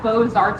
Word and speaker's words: Beaux-Arts: And that lends its name to the architectural style, Beaux-Arts architecture. That's spelled B-E-A-U-X. Remember, it's French.